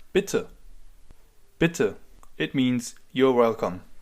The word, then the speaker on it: bitte: If you want to respond to that, you can say bitter.